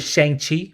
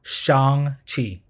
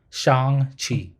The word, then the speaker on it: Shang-Chi: A lot of people pronounce it Shang-Chi, but it's actually pronounced Shang-Chi. Shang-Chi.